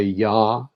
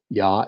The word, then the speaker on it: Yah: elohim we we say yah instead of the unpronounceable name yah is the pronunciation of the first syllable yah expressing that which